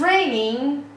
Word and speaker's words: raining: It's raining دوباره جی تلفظ نمیشه.